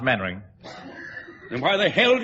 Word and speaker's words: Mainwaring: You must be Mainwaring. Oh, how do you do, Colonel? Actually, it's pronounced Mannering.